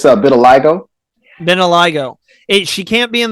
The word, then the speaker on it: vitiligo: It's vitiligo.